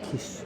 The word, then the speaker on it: Kis: nom de famille était Kish. Et j'ai appris qu'ils venaient de Hongrie, parce que là-bas… Oui, mais ça sonne comme Kiss, c'est comme ça qu'on prononce, un peu différemment.